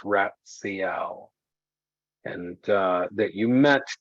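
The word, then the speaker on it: Ratsiel: you spell the guardian's name his name is pronounced ratcl and uh that you met tonight while standing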